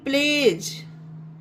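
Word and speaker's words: pledge: PLEADGE, प्लेज, यहाँ पे भी डी साइलेंट है क्योंकि डी के बाद जी आया है।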